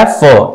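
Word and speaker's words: half: sound क्या आ रहा है फ एनफ राइट तो ये वाला सिंबल है हाफ में एल एफ है लेकिन एल साइलेंट हो जाता है सिर्फ फ साउंड आता है हाफ ठीक है फिर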